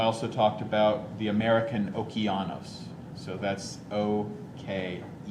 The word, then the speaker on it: Okeanos: talked about the japanese gq and also which is spelled c-h-i-k-y-u g-q and um i also talked about the american okeanos so that's o-k-e-a-n-o-s okeanos explorer okay so